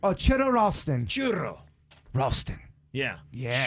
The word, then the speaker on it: Churro: Roll your R's with your name. Churro Ralston.